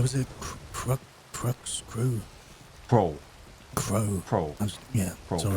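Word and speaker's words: Creux: Crow. Pro. Yeah. Pro. Sorry.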